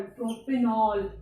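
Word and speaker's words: propanol: या हिंदी में देखें, प्रोपेन तक तो सेम रहा लेकिन लास्ट में ऑल, प्रोपेनॉल, इस तरह से हम इसे प्रोनाउंस करेंगे, प्रोपेनॉल।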